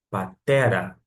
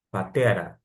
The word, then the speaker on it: πατέρα: que é pai, mas nós temos a sílaba tônica justamente aqui, no, no T, indicando que você vai pronunciar patera, patera, tom, patera.